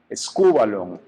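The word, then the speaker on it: σκύβαλον: el español esto es una en griego que se pronuncia es cubalón escúvalon y tiene dos significados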